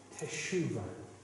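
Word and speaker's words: תשובה: The Hebrew is teshuva.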